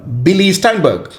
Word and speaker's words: Billy Steinberg: So he knows people like Billy Steinberg. Yeah, Did I pronounce his name properly?